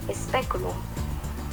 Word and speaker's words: speculum: En este caso es la E, speculum.